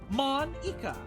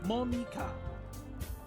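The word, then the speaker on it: Monika: Mon-Ika. That's not how you say my name at all. Mon-Ika. Instead of Monica.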